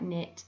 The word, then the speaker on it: knit: be spelt k n with a silent k in words like knit and not these are the